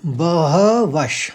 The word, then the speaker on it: बहवः: अब ये श क्यों आया देखिए, उसके आगे वाली लाइन में, आगे वाले शब्द में श है, शूरा। इसलिए जो विसर्ग है, विसर्ग का उच्चारण हमने बहवश कहा, इसीलिए कहा। अगर स होता तो स बोलते, स होता तो स बोलते, और श है तो श बोलेंगे।